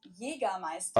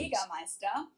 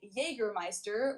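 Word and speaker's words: Jägermeister: This is pronounced Jera Meister. Okay, I don't know these brands. Jermeister. English speakers usually say Jergermeister, which is pretty much the same just with a pretty thick accent.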